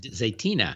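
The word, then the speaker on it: Zaytinya: Turkish restaurant Zenia how do you say zatina zatina yes yes Tom so uh so if you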